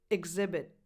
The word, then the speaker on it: exhibit: Examples: exhibit.